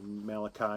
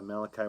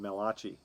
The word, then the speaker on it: Malachi: by the way that malachi was the first italian prophet and then you say the name wrong you say it melachy right sounds like sounds